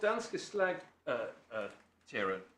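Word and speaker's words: Danske Slagterier: Yes, well, what Danske Slag Tjera did, that's the right way to pronounce it.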